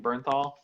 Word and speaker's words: Bernthal: Jon Bernthal is how you say he's lessening Bernthal Bernthal yes he's amazing as The Punisher he